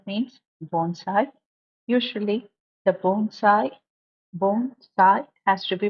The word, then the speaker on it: bonsai: a Japanese word means Bonsai usually the Bonsai bone side as to be pronounced but it is always misspelled as Bonsai